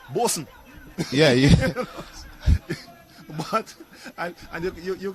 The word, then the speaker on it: Boatswain: There's a name that is quite prevalent in Grenada that is spelt Boatswain, Boatswain, but it is pronounced Bosun.